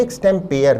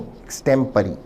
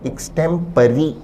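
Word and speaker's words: extempore: विद्यार्थी ध्यान दें एक्सटेंपेयर नहीं एक्सटेंपरी। ई एक्स टी एम पी ए आर ई तो एक्सटेंपेयर है। ऐसा कोई शब्द है ही नहीं। सही शब्द है एक्सटेंपरी। विद्यार्थी इस शब्द के उच्चारण पर भी ध्यान दें। शब्द का सही ब्रिटिश उच्चारण है एक्सटेंपरी। यद्यपि स्पेलिंग पी ओ आर में खत्म होती है।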